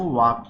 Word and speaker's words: walk: वॉक मतलब होता है टहलना, WALK, यहाँ पे L साइलेंट रहता है, इसको वॉक पढ़ते हैं।